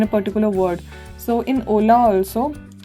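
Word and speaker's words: hola: particular word so in Ola also H is silent so we pronounce it as Ola however when we write it it's h o l a okay and then how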